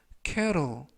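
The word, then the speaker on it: kettle: 일하고 발음 하시면 되겠고요 이때 알파벳 튀는 트가 아니라 부드럽게 르 그래서 캐러 루 이라고 바람 하시면 더 좋겠습니다 품사는 명사 뜻은 주전자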